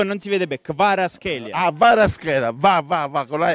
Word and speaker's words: Kvaratskhelia: Io non voglio immaginare lei come pronuncia Kvaratskhelia. Garasceta. No. Il numero 77 del Napoli. Entra in campo Kvicha. Garasceta, no. Kvaratskhelia.